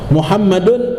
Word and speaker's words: Muhammadun: Ya, ya, ma'asyiral khalqi, seluruh makhluk, wa nabiyana Muhammadun atau wa nabiyana Muhammadin, ya, bacanya anna sayyidana wa nabiyana Muhammadun ibni Abdillah.